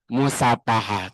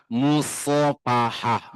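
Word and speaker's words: مصافحة: Musfahah tuh artinya zina. Ceuk saya oge kan. Mari kita berzina. Ayo sapaha yusihu musapahatan wasifahan artina zina. Salaman mah musofahah. Musofahah pakai sho.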